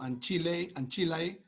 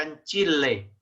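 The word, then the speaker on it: ancillae: Sí, se pronuncia Anchile, no Anchilae. Anchile.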